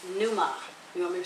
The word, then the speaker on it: pneuma: is this pronounced ruach in greek it is pronounced pneuma you want me to spell that yeah okay